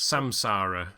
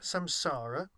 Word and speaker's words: samsara: memory and Sam Sola which I can never pronounce samsara samsara and today we'll be discussing my take on